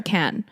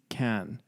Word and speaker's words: Cannes: Is it Cannes or Cannes? I think it's Cannes. Right? In French. Yeah. Because I don't think they pronounced the ES.